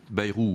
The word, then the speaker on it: Bayrou: En plus, vous prononcez mal son nom, Bayrou. Bayrou, oui.